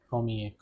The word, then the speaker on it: première: Pronunciation is premier and première.